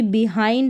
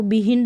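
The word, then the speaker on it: behind: जैसे कि बिहाइंड है, इसको बिहिंड नहीं पढ़ेंगे, बिहाइंड, mild, child, grind, ब्लाइंड, फाइंड।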